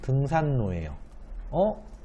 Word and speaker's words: 등산로: 답은 등산로예요. 리을이 니은과 만나면 얘가 원래는 니은이 바뀌어야 되는 게 맞는데 어째서 결과는 이렇게 안 되고 뒷글자인 리을에서 니은으로 바꾸는 현상이 일어나나요?